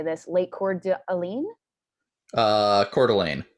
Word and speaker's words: Coeur d'Alene: Coeur d'Alene. Coeur d'Alene.